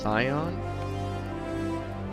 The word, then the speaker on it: scion: at least she on is pronounced scion i've always pronounced it she on at least in the current dub it is all right yeah